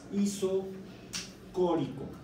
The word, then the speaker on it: isocórico: estamos hablando, que es isocórico. Está todavía más loco ese nombre. Isométrico o isocórico. Isocórico. I-S-O-C-O-R-I. ¿Quién sabe qué dice ahí? I-C-O. Isocórico. Con acento en la segunda O.